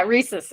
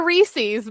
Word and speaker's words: rhesus: Yeah, rhesus. Yeah, rhesus. Macaque. Not a Reese's monkey.